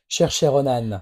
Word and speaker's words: Saoirse Ronan: Et il y a, alors j'arrive jamais à prononcer son nom, Roars. Saoirse Ronan.